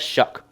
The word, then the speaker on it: Shough: Well, apparently he pronounces it as Shough.